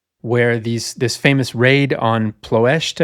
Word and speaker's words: Ploiești: this famous raid on Ploiești, I think is how it's pronounced in Romanian, approximately, The big oil fields there, something like 30% of the bombers get shot down.